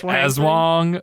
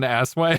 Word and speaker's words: Aswang: It's probably it's probably It's pronounced like Aswang, not an Asswang.